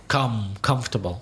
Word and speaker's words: comfortable: And those two words, it's the first syllable, vegetable, and comfortable.